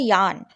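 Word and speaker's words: yawn: या फिर अंगड़ाई लेना इसकी इंग्लिश होती है यान नौ यू शुड रिमेंबर डेट यहां पे व साइलेंट होता है ठीक है यान बोलते हैं यान फ्रेंड्स अगर आपने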